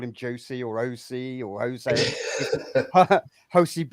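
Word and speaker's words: José: Josie or OC or Jose. Jose Villegas. Josie is the correct pronunciation in the English term because that's how it's spelt.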